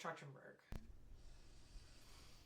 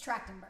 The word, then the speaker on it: Trachtenberg: is the passing of Michelle trenburg it's tractenberg oh jeez I said it wrong I've got you Michelle